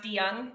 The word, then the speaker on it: DeJong: So just as a heads up, it's pronounced DeJong, DeJong. Yeah, I apologize. It's a common Dutch name, maybe not a common US name.